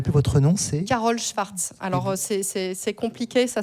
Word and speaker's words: Szwarc: Je ne me rappelle plus votre nom, c'est Carole Schwartz. Alors c'est compliqué, ça s'écrit.